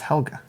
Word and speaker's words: Helga: just how Olga okay that was the weirdest pronunciation of hello gee I thought I was just held no it's Helga okay and that's the German version the American version which